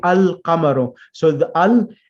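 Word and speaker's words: القَمَرُ: moon letters, meaning that the al, the definite article, is pronounced completely. We say al-qamaru. So al, the word qamarun means moon, and we say al-qamaru.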